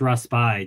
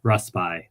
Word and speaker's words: Raspail: It's Raspail. Just think of that. Like as with most French words, a lot of syllables are not pronounced. The letters are just there for a decoration, right? So it's Raspail.